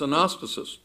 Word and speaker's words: anastasis: In fact, if you look at the Greek word resurrection, in Greek pronounced anastasis, almost all of the time it does refer to a physical resurrection.